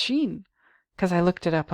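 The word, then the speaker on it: שין: know like I think the Hebrew letter s-h-i-n is pronounced Sheen because I looked it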